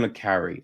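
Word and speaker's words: le Carré: and tinkertay i mean john le carrey i think i always say john le carre i've heard it pronounced other ways but other people it's john le carre so you know i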